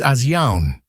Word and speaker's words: Asyaun: The Jerk DM will repeatedly mispronounce the name of the species being described. To clarify, the correct pronunciation of the species is Asyaun.